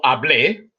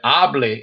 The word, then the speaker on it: hablé: If you said hable instead of hablé, it would mean something completely different.